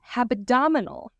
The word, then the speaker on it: hebdomadal: You could, because today's word is habdominal, which means weekly, basically. It is spelled Hebdomadal.